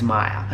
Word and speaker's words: Maya: I'm pretty sure it's Maya or Maria. No, it's Maya.